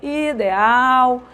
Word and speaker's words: ideal: bairros vendendo né gritando Olha o ideal ó ideal a sílaba tônica é a olha aí ó ideal certo então nós temos